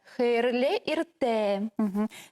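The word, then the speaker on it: Хәйерле иртә: Хейрле ирте. То есть ударение всегда хайерле Хейрле ирте. ирте. И На это последний у нас- слог.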